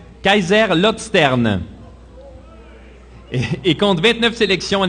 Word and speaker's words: Kaiserslautern: Il évolue en Allemagne avec l'équipe FC Kaiserlord. Bon exercice de prononciation. Kaiserslautern.